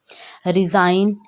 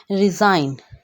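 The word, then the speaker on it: resign: रिज़ाइन, डिज़ाइन में भी जी है लेकिन प्रोनाउंसिएशन करते वक्त जी प्रोनाउंस नहीं करेंगे, जी साइलेंट है। रिज़ाइन, अलाइन, इसी तरह अलाइन है।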